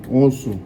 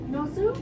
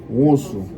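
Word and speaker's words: Nwosu: Onsu. Nosu? Onsu. The N, the W, and the O is one word.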